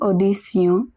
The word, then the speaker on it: audition: Après une audition, remember Tion is pronounced as Sion.